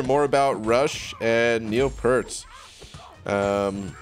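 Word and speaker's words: Peart: about rush and neil pertz um at least that's how i say his name i know technically you're supposed to say it like pierce or whatever anyway oh man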